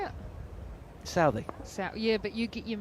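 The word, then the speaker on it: Southee: Southey.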